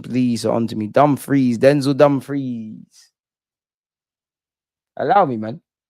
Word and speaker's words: Dumfries: Freeze, not fries. Dumfries. Pronunciation, please. On to me. Dumfries.